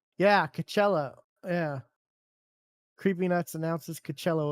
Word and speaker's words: Coachella: Um Oh, Coachello. Yeah, Coachella.